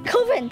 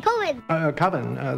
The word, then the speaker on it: Coven: COVEN. COVEN, that's the proper pronunciation. No. COVEN sounds like oven, man, and that's just, it doesn't work.